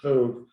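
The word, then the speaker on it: טוב: The Creator looked at Earth and said, Tov? Is that how you pronounce it? Tov. It's Tov, very Tov, which is just good.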